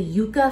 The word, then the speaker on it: yucca: stuff they have the yucca fries and that's how you say it i asked the guy there y-u-c-c-a and it kind of to me looks like yucca but they even sell